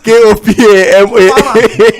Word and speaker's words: Kopama: K-O-P-A-M-A. The thing is, Kopama, he also has... Did you hear the way Triple pronounce it? It's Kopama now. It's Kopama.